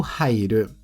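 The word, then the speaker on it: 入る: A primeira é ha usada no verbo hair. Hair do verbo entrar.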